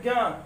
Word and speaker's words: ज्ञान: इसको हम कहते हैं ज्ञान, लेकिन शुद्ध रूप से क्या पढ़ते हैं, ज्ञान, ज्ञानी, ज्ञान। लेकिन जो बोलचाल की भाषा है वो ज्ञा को हम ज्ञा कहने लगे। ज्ञान उच्चारण तो ग और या आता है, लेकिन वो है नहीं, है क्या मूल रूप से, उसमें जा और या का मिश्रण है, दो व्यंजनों का, और बनते हैं ज्ञा।